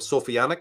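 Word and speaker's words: Sophianic: just for convenience I call them sofianic because it rhymes with satanic and sophic because it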